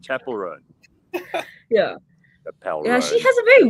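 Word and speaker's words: Chappell Roan: and say to me Chappelle Rowan I'm like that's not how you say it I don't I don't know but I know that's not how you say it Chapel rone yeah she has a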